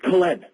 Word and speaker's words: Colleen: She said, it's Colleen. Say it right now. Colleen. I have a brother named Ben. It rhymes with Ben.